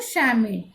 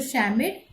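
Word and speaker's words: Schmidt: We will not pronounce T and we will not pronounce this C over here. Mr. Shamid. So Martha could recognize that it was Mr. Shamid, her history teacher, and Mr.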